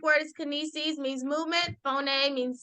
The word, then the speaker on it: phoneme: it looks just like phone guys but it's pronounced phone a but if you say phone that's fine okay